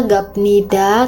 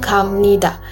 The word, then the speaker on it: 갑니다: Peraturan pelafalan: apabila huruf biep diikuti oleh huruf nien, miem, maka biep akan dilafalkan menjadi miem. Contohnya adalah 갑니다. Jadi kalau huruf biep bertemu huruf nien, jangan dibaca gapnida, tapi dibacanya 갑니다.